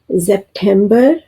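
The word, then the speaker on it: September: आगे है यूनी यूनी इससे अगला महीना है यूली यूली आगे है अवगुस्त अवगुस्त जेपेंबर जेपर यहां भी स्पेलिंग एक से हैं लेकिन प्रोनाउंसिएशन में फर्क है।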